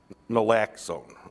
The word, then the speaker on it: naloxone: Naloxone, okay.